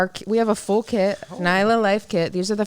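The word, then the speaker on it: Nyla: It's actually called Nisla. Nisla, N-Y-L-A? That's how you pronounce it. It's Nisla.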